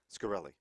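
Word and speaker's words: Shkreli: The Drug czar of the company, Martin Scarelli. Is that how you pronounce it? Yes, Carol. Yeah. Scarelli.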